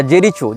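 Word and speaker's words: Jericho: या फलस्तीन हो इसने जेरिको या जेरीचो जो भी इसका उच्चारण भाषा में किया जाता है जे आर आई सी एच ओ जेरीचो या जेरिको जहां तक जेरिको होना चाहिए उच्चारण यह फलस्तीन का प्रांत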